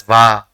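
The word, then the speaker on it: は: it is used as a particle it is pronounced as VA the character in the middle is O and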